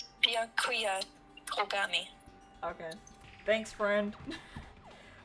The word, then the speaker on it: Byakuya: Byakua. Alright. I need one ear. Thanks, bestie. Alright, there we go. Baya is one syllable instead of two, so Bia, but you're saying it fast.